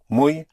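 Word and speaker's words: muy: Mui spelled m u y mui.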